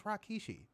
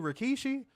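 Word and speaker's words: Rikishi: I'll be like who the is Rakkeshi? You mean Rkkeshi?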